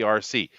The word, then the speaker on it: Arcee: When they were saying RC, I thought they were talking about remote control. The puppeted transformer. But no, her name is spelled with an ARCEE.